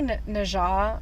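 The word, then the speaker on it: Nezha: Also, I was not expecting to hate, I say Najah because I've seen people say it like, I didn't like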